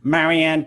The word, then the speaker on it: Marian: So you said my name is Marian.